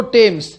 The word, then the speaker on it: Thames: Westminster ব্রিজের তলা দিয়ে যে রিভারটা বয়ে সেটা হচ্ছে টেমস নদী, THAMES, থেমস। মনে মনে উচ্চারণ করো বানান লেখার সময়, কিন্তু মুখে বলার সময় বলবো টেমস।